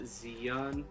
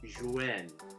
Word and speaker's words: Zhiyun: So starting off with the pros, the Crane V2, a little context, it's not Zhiyun, it's Zhiyun. So that's the correct pronunciation, so I'm gonna go with that.